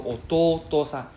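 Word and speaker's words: おとうとさん: So ototo-san. Okay, so please be careful, don't forget the second to.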